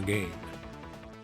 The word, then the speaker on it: Gao: Actually, in the English Sega CD version, it's pronounced GA. And I can see why because the English spelling of his name, even in the Japanese versions, sure looks like Ga, but in Japanese is pronounced Gao.